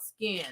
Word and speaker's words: SKKN: a makeup line called Skin let me see what it is skin let me show you peeps because everybody think I'm saying it wrong and I'm not oh it was both